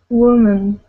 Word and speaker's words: woman: Okay, now, singular is woman. Woman. Yeah, so that O and that A both sound like an sound. Woman. Woman. Woman. Okay, so yes, that's a crazy word, but that's how we pronounce those. Women and woman.